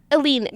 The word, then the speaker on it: Elleinad: Elleinad.